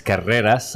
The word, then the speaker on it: Carreras: I mean, the name is, if you pronounce it right, it's Carreras, and it's very Spanish. My father is from Malaga. You should have told me that was a pronunciation, because I took Spanish for a lot of years. The only thing I learned was that rolling R. That's right. So that rolling R, and the second is non-rolling, is just it's a disaster.